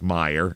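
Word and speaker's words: Meijer: to a Meer store which is spelled me e i j r that's Meyer and it's I guess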